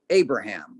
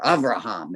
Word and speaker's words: Abraham: As you come in, you see it says Fazi Azar by Abraham, or Avraham, as Hebrews would pronounce it.